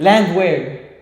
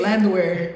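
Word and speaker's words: Landwehr: favorite fight on the card hopefully he doesn't mispronounce the names Nate Nate land Nate her no you had it you had it land wear Nate land wear vers versus um dooho Choy okay um who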